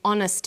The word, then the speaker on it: honest: So we say a happy man but an honest man. The H is not pronounced. So honest sounds like it starts with a vow.